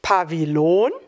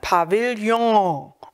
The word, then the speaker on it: Pavillon: spricht man nicht belohnt weil es aus dem französischen kommt spricht man es nicht bei wie lohn sondern pavillon das ist ein meistens rundes